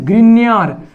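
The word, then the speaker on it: Grignard: क्या नाम है इसका, ग्रिग्नार्ड रिएजेंट। ठीक है, और हमारे हिंदी में इसको बोलते हैं ग्रिन्यार। ठीक है, देखो इंग्लिश नाम है, हिंदी नाम है, थोड़ा सा डिफरेंट है और स्पेलिंग पे है, तो इसको बोलेंगे ग्रिन्यार अभिकर्मक।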